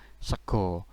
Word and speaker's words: sego: dibaca G, ketemu wawu jadilah segu. Segu tidak ada dalam bahasa Jawa maupun bahasa Indonesia, ini sama dengan sego. Jadi memang tulisannya segu tetapi bacanya sego.